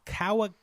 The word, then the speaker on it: Kagawa: So, anywho, Takami was born on the 10th of January, 1969, near Osaka, and he grew up in the Kagawa Prefecture of Shikoku.